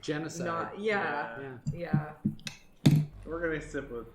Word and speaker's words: genasi: You know they put out an official pronunciation. You're supposed to say genocide. Oh, it's genocide? That's what they like literally like a month ago were like, it's genocide. And I'm like, everyone's been saying Genasi forever.